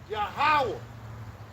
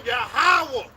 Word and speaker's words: Yahawah: ] you s man all right yah yahwah yahawah yahawah and the certain name yahawashi yahawah that's right that's the name yahawah how you spell that how you spell it